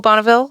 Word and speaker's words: Bonneville: So Côte Bonneville is, in case you don't know how to spell it, COTE Bonneville, like the car or the dam.